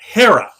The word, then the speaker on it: Haara: But when someone asks me how to say it, I say Haara.